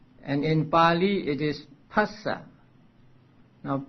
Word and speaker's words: phassa: And in Pali it is phassa. Now PH in Pali should be pronounced pa and not as F in English.